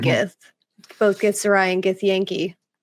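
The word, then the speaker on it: Githyanki: both gith zarai and gith Yankee now accurately pronounced get the Yankee yeah yeah because um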